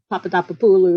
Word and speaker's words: Papadopoulou: And Madam Papadopoulos, or Papadopoulou, if you say it correctly in Greek, because she's a woman, she's very touched by